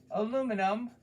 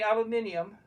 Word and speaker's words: aluminum: name the metal first aluminum in America the English say aluminum they still spell it the same so go figure